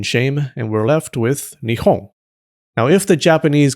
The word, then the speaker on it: Nihon: Over time, the P sound softened to become Nihon. Around the Edo period, it softened even more to become Nihon, the pronunciation used today.